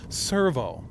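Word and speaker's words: Sirvaux: it's not Servo anymore it's Servo it sounds the same only it's spelled s i r v a u x Servo we'll just grab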